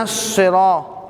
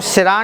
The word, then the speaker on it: الصراط: اہدنا الصراط. اب اس کو سرا نہیں پڑھنا بھائی، صاد ہے، صاد.